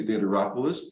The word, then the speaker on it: Theodoropoulos: are excited to be joined today by Theater rolis the owner of burn boot camp St Louis